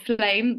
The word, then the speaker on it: Flamme: of is it flam how do you pronounce the name anit just call it a flame there's a story behind that as well just play okay but with two M's just kind of like plum because you got a bit of French in there as well uh founder